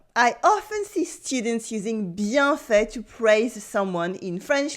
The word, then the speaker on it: bien fait: Bien fait. Repeat after me. Bien fait. Bien fait. Bien fait. Here you have two words. We have bien with the nasal sound un, bien, bien, bien, bien,